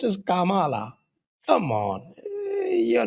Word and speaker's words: Kamala: नहीं, it is pronounced as Kamala.